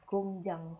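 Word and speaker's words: 工厂: Kemudian di sini iang lagi jadi bacin. Berarti ieng-nya akan dibaca menjadi eng lagi. Jadi cara baca tulisan ini adalah gongjang.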